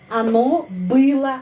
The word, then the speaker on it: было: Netral telah senang, ya, оно было рада. Di sini o, tapi bacanya a karena penekanannya di sini было.